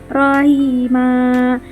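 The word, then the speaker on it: رحيما: Rohiman sama dengan rahima. Jadi tidak menjadi tanwin karena ada wakafnya ya.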